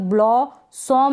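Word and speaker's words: blossom: तो ब्लॉ बन गया लेकिन यहां पर ब्ल सोम नहीं पढ़ेंगे ब्ल सम पढ़ेंगे सम यहां पर यह ओ को हम अ पढ़ रहे हैं ब्लॉसम एक दो बार प्रोनाउंस कर ले कभी भूलेंगे नहीं पेड़ या पौधों में फूल आना या हरा भरा हो जाना या फलना फूलना इसको हम कहेंगे ब्लॉसम ब्लसम नहीं कहेंगे ब्लॉसम कहेंगे इसको हम क्या पढ़ेंगे ब्लेंडर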